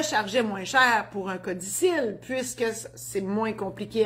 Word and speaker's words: codicille: Un codicille, ça s'écrit codicille, mais on prononce codicille.